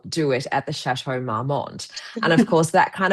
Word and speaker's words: Marmont: Um tell us about Arya Jones and the Chateau Marmont Marmont Marmont I I'm not sure how to pronounce Marmont, yep.